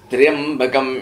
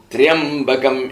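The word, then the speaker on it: त्र्यम्बकं: Triambakam yajamahe. Triya is to be pronounced together and not a triya.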